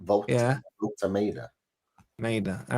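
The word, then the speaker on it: Woltemade: Voltameda. Volt is in Volt. Yeah. Voltameda.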